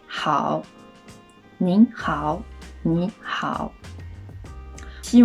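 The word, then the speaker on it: 好: Et la prononciation de ce caractère, c'est Hao.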